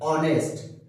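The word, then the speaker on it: honest: जैसे ऑनेस्ट है तो इंग्लिश के अकॉर्डिंग कसोनेंट।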